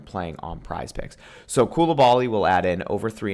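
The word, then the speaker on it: Coulibaly: Koulibaly, that's how you say it.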